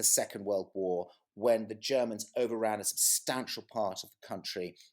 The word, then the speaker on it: Gherman: was talking about german g-h-e-r-m-a-n is how we spell it but it looks like german it's german titov it could easily be pronounced like that we are approximately what